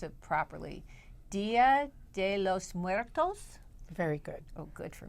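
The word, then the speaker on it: Día de los Muertos: Now, but wait, let's pronounce it properly. Dia De Los Muertos?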